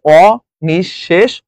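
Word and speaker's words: অনিঃশেষ: বিসর্গটা কি হয়ে যায় বিসর্গ থাকলে বিসর্গের পরের যে বর্ণটা সেটা দুইবার উচ্চারণ হয় যেমন ও নিঃশেষ সেজন্য কি হয়ে গেছে তালব্বুসটার আগে যেহেতু বিসর্গ আছে তাই তালব্বুসটা দুইবার উচ্চারিত হয়েছে অ নিঃশেষ হয়েছে আচ্ছা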